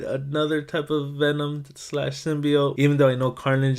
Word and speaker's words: symbiote: trailer with a crash site of the symbiote symbiote that's how you say it you understand why